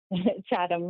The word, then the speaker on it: Chatham: Chatham, Ontario. Did I say it right? Chatham, yes.